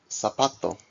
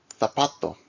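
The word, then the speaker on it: zapato: depending on it's only Americas Z is pronounced as an s in all cases so sapato and but in Spain V is pronounced as a th in all cases so like tapato yeah let's listen along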